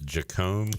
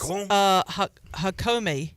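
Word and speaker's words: Jácome: Terry says, Clip, did you hear about this Jacome kid? Is that how you say his name? No, it's not. Jacome? It's Jacome? Yacome. No, Yacome? it's Hakome. Hakome? Hakome, yeah.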